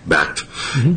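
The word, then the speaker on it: BACT: how do you pronounce how do you say backed backed and they also developed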